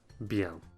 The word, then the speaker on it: bien: We also then have the case of words that end with IEN, which shouldn't be pronounced ien, but they are, as in the word bien.